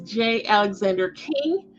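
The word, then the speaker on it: J. Alexander Kueng: this week and so I did confirm the pronunciation is J Alexander King and Tao Tao they were convicted on federal charges and so former Minneapolis police officers J Alexander King and toe Tao were sentenced by the U.S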